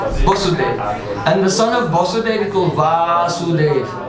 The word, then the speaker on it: Vasudeva: It means the son of Vasudeva. First one has a long A. Vasudeva is a long, short A. Vasudeva.